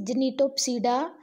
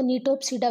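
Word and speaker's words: Gnetopsida: Third class जो है that is जिनिटोप्सिडा, ji silent बोल देते हैं इसको, नीटोप्सिडा भी कहते हैं।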